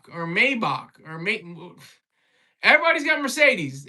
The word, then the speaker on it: Maybach: you pulled up with the red drop top Maybach. And I'm probably pronouncing it wrong.